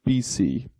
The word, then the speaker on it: BC: 0 are followed by bc and you pronounce this as two letters of the alphabet so just b c so we've got